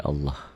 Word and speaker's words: Allah: Nih, lafaz Allah dibaca tafkhim, tebal, berbunyi Allah.